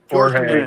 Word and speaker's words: Jorge: Jorge. Yes. Jorge Jorge Jimenez. Yeah, let's pronounce it the English way.